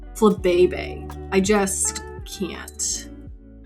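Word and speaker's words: Flabébé: Like, why is it literally pronounced Flabebe?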